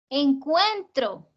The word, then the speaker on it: encuentro: Y eso me permite saber que encuentro tiene 3 sílabas y que la fuerza está en la penúltima.